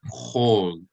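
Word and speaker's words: כל: that even in modern Hebrew, they pronounce it as O instead of A.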